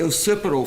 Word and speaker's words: occipital: The occipital fracture, am I pronouncing that correctly? Yes, sir. The occipital fracture, is there